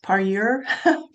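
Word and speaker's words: parure: Um, her emerald earrings and emerald necklace from a I believe it's pronounced parur, which is a set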